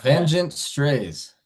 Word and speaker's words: Vengent Strays: Can you tell me how you pronounce the name? Is it Vengeance? Is it Vengeance Strays? Yeah, Vengent strays.